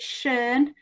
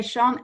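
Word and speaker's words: Schön: And Sean, I think you pronounce it Shern. I'm a bit northern, so I still say Sean.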